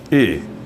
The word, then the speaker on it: y: Yo conozco a Ronaldo dan saya tahu, dan itu adalah I, ya. Ini artinya I, ya. Artinya dan, membacanya I. Kalau Y sendirian dibaca I, dan artinya dan. Dan saya tahu I, yo